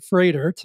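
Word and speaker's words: Froedtert: Jenna is currently an occupational therapist at Freidert. I had to learn a couple times how to pronounce Freidert. If you look at the spelling, it's not like it sounds.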